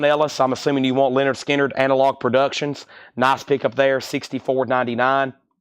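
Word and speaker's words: Lynyrd Skynyrd: 2 LP 45 RPM that is 64.99 and Leonard skinnard pronounced Leonard skinnard 64.99 Chad he the rush four albums of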